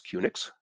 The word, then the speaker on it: QNX: And I guess newer guys like me here tend to pronounce it as QNX, but you hear some of the old timers here sometimes pronounce it both as QNX, like Unix, as well as QNX.